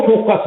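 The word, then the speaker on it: foci: कई बार इसको अलग अलग बंदे, कोई खौकी कह देता है, कोई फकाई कह देता है, ठीक है, थोड़ा प्रोनाउंसिएशन में differ person to person differ करता है।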